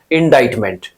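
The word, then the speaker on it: indictment: रखना है मेरे भाई इंडा इट मेंट का ग्रामेटिकल प्रोफाइल नाउन होता है क्लियर हो गया सी को यहां साइलेंट कर देंगे सी क्या है साइलेंट इंडा इट मेंट इसका मीनिंग क्या होता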